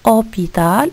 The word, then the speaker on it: hôpital: l'hôpital à deux choses hôpital nous avons 1 h mais aussi qu'on va